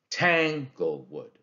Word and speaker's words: Tanglewood: The first syllable is stressed. Tang and then go-wood. Tanglewood. Tanglewood. That's a dactyl.